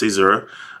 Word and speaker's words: Caesura: So it's pronounced Caesura.